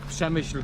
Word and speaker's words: Przemyśl: How do you say it? Przemyśl główny. Przemyśl. Przemyśl? Przemyśl. Przemyśl. Yeah. Przemyśl Przemyśl. Główny. Very good. Przemyśl Główny. Okay. It's Przemyśl. Przemyśl.